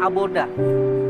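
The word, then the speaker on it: עבודה: Ibadah dalam bahasa Ibrani itu memiliki penulisan atau pelafalan aboda.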